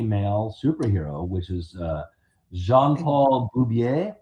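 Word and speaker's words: Jean-Paul Beaubier: superhero, which is uh Jean Paul Bubier, I believe is the correct pronunciation of the character's name.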